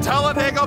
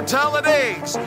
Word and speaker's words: Talladega: Turns out it was just stolen from me as I was pickpocketed down on Talladega Boulevard. Yes, the track is Talladega, or Talladegs, if you pronounce it like me, an imbecile.